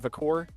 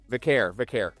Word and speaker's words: Vaquer: I got that last one right? Vacour? Stephanie Vaquer. Vaquer. Right.